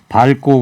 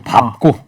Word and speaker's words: 밟고: 밟고 그렇게 발음하면 안 되고요. 밟고. 밟고. 밟다, 밟고 뭐 이런 식으로. 네. 밟고. 리을 비읍 이 종성은 그렇게 발음을 해야 되는 겁니다.